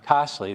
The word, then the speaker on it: Castlio: This one I never could pronounce. Castlio. Is it Costly? Osley, yeah. Costly, that's what, okay. That's what I thought.